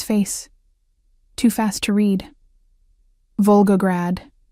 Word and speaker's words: Volgograd: Volgograd. He pronounced it perfectly, with the rolling R and the soft consonants of home.